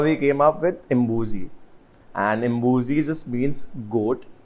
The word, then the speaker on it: Imbuzi: That's how we came up with Imbuzi, and Imbuzi just means goat in Zulu language. Yeah. And it's not even Madness.